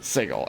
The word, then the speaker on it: Sigil: It's sigle. It is. And it's spelled the same as the word sigil, but they pronounce it sigle.